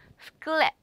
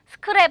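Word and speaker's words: sklep: 스클랩, 스클랩 하면 가게. 스크랩 안 돼요. 스클랩. 그죠? 스클랩, 가게.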